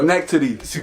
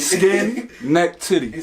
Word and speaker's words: Schenectady: Schenectady. Like skin, neck, titty.